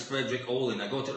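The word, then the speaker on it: Fredrik Åhlin: Allen Frederick all them I've been saying it wrong for the past four years the band is Frederick all in I got it right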